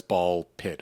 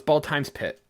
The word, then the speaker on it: Ball x Pit: I don't know if you pronounce the X or not. Is it ball pit? No, it's ball times pit.